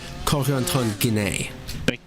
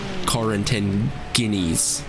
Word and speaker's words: Corentin Guinée: Well, I typed it into Google Translate, and then the French AI lady says it, Corentin Guinée. Corentin, yeah. Corentin Guinée. Sounds better than Corentin Guineas.